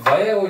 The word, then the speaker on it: Vallejo: Bunlar İspanyol olduğu için Vallejo diye okunur. Vallejo diye yazılır. Vallejo diye okunur. Çünkü niye? İspanyol malı.